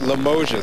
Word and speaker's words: Limoges: is 79 to south Limoges that's how the locals pronounce that we are told that